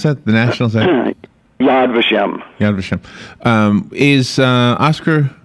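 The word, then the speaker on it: Yad Vashem: the Holocaust Memorial Museum yes how do you pronounce that the national yadvashem yadvashem um is uh Oscar Schindler one of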